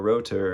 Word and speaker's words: Rother: The title's pronounced Traumreisen, even though his name probably is actually pronounced Michael Rother in Germany. We call him Michael Rother over here in the US.